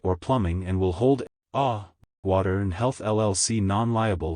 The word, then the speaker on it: AAAH: filter changing instructions for aaah pronounced ah water alkaline system important